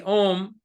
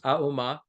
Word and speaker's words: Om: The Om has 3 syllables, Auma, body, speech, mind.